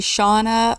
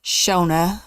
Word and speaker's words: Shona: want to think about most people call me Shauna or Shonda I've even been called Sheena and Shayna but my name is actually Shona with a long o so I I get